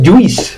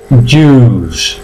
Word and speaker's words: juice: Otra igual, no es juice, la I. Si os dais cuenta, ninguna de las palabras se pronuncia. No pronunciáis la I. La ponen, yo digo, siempre la ponen adorno. El inglés es lo que tiene, hay muchas letritas que las ponen, pero no se pronuncia. Eso sí, hay que escribirlas, claro. Bien, se pronuncia juice.